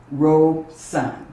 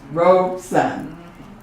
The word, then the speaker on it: Robeson: philosophy of paul leroy robe son two syllables robe son and vinoka will correct